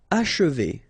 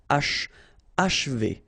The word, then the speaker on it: achever: Achever, okay, and then if you want to pronounce it the way French people will do, so don't insist too much on this and you will get achever, achever. It's a bit tricky, this